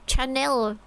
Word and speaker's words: Chanel: CH is pronounced as sh because it's French. Chanel.